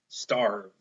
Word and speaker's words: starve: it with me arm starve we do not say the e at the end because it's silent it's only helping that